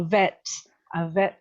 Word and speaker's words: vet: in this course is pronunciation, especially that V. Did the rest of you hear a bed assistant? And I'm thinking, what does a bed assistant do? So a vet assistant.